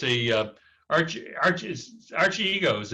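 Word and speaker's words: Archegos: yeah it's actually it's a uh arch arches archie egos it's uh it's actually a greek word believe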